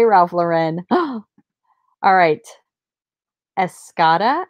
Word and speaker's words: Escada: Ralph Lauren oh alright Escada I think is how you say this this is a runway